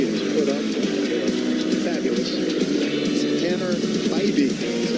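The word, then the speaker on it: Bibee: Tanner Bybee is how he pronounces it.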